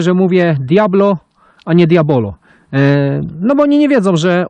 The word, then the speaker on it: Diabolo: wśród Diablo halo halo Pisze się Diabolo ale na bazarze zawsze się gada Poproszę wśród Diablo już wiadomo o co